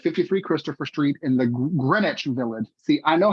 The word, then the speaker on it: Greenwich: It was located at 53 Christopher Street in the Greenwich Village. See, I know how this word is pronounced.